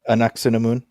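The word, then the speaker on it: Ankhesenamun: Anuk-San-Amun? Anuk-Sun-Amun.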